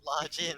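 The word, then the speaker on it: La Jinn: You didn't say it right. It's La Jin, mystical genie of the lamp.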